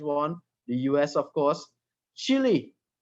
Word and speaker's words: Chile: the us of course chile right or chile as the uh uh latinos pronounce it they have a very